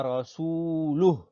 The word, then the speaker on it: رسوله: Et enfin, wa rasuluh. Wa rasuluh. Bien prononcer le ra. On dit pas wa rasu. On dit ra. Wa rasu. Sou on tire parce qu'il y a un waw après le ou.